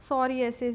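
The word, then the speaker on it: psoriasis: Second one इज़ सोरियासिस। ये जो सोरियासिस है इसका पी जो है वो साइलेंट है।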